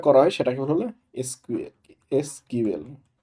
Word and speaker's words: SQL: এসকিউএল, এটার আসল উচ্চারণ হলো সিকুয়েল। সিকুয়েল।